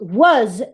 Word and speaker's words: was: Well, this word is pronounced was in isolation, but it's pronounced with a schwa when it is in context.